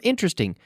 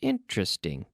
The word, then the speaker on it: interesting: interesting list very interesting remember interesting three syllables interesting interesting good how did you